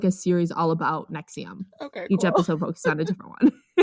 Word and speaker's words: NXIVM: But it is NXIVM, and it's pronounced NXIVM.